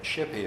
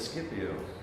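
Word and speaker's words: Scipio: the Sigma Kappa yesterday in classical Greek and Latin they pronounced it as SK and then after the Classical period for some reason they changed to Sh pronunciation so the great cicero wrote an early novel called somnium Skippy onus we call it the dream of shippi oh he would have said Skippy we say should be oh and so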